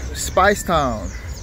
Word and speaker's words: Speightstown: good morning and welcome to spice town it's not spice but spice it's spelled and pronounced a spice town for the